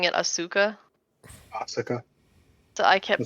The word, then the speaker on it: Asuka: ever set it up is it Asuka the way they pronounce it is like Asa they like barely hint very subtle uh yeah I can't